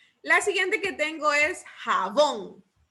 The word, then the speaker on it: jabón: La siguiente que tengo es jabón. Jabón. Lleva el acento en la última sílaba, en bon, ¿verdad?